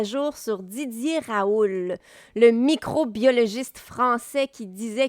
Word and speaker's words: Raoult: Juste pour rappeler à nos auditeurs, Didier Raoult, et d'après ce que je vois, il faut prononcer le T.